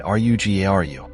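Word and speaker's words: rougarou: Does lugaru rhyme with rugaroo? pronounced lu g- a ru and r u g- a ru respectively. These words rhyme with each other because rugaroo is the variant of French lugeru.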